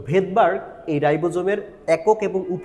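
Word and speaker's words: Svedberg: বাট এটার বাংলা তুমি যখন উচ্চারণ করবা মানে ইংলিশে যখন স্পেলিং আসবা তখন এটা দেখবা ভেদবার। এইস এর উচ্চারণটা এখানে কিন্তু হচ্ছে না। তো ভেদবার এই রাইবোজোমের একক এবং উপ এককগুলো আবিষ্কার করছিল।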